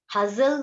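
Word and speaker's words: hustle: हजल बजल. सो टी is silent है. यहाँ पर टी क्या होता है? टी यहाँ पर साइलेंट होता है.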